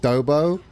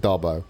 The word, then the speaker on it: Darbo: I've seen so many people pronounce it Dobo. I'm like, nah, there's two B's, that makes it Dobbo. I ain't calling it Dobo.